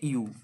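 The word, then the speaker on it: ewe: ই ডব্লিউ ই ইউ ই ডব্লিউ ই এর উচ্চারণ হচ্ছে ইউ ইংরেজিতে বললে ওয়াই ইউ এর অর্থ কি না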